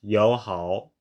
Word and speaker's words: 友好: third tone tonal pair, there is a regular tone change called tone sandy by linguists, whereby the first syllable in the pair changes into the second tone. Thus, for example, 友好 in the above table is actually pronounced 友好.